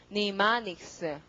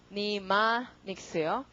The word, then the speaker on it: mnemonics: 발음이 니마닉스, 니마닉스요.